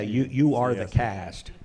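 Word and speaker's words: UrtheCast: Yeah, you are the cast. Yeah. Earthcast. So it's a funny, you can kind of pronounce their name several different ways. You are the cast, Earthcast, oh, right?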